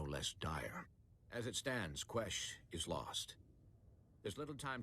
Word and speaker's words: Quesh: of this um and we know that it's pronounced ques okay that's interesting isn't it so anyway what